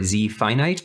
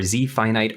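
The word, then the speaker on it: Z-FINIT: lc200n and zeefnet or z finite are the exact same thing i think technically should be pronounced z finite because it's just a portmanteau abbreviation it literally stands for zap fine grain nitrogen steel finite and yes just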